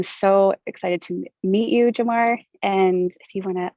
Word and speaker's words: Jamar: Yeah, I think my mother did that on purpose to kind of accentuate the R at the very end. And so for those of y'all who from Chicago know that there's no R in our language. And so to say my name in Chicagoan is just Jamar. And so the R is not ever pronounced.